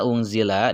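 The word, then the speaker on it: أُنزِلَ: Oke, selanjutnya unzila di situ masih dibaca ikhfa ya, dibacanya samar, dibacanya dengung karena nun bertemu dengan huruf zai.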